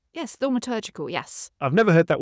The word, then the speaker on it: thaumaturgical: used the word, I'm not sure how to pronounce this, thaumaturgical. Is that right? Yes, thaumaturgical, yes.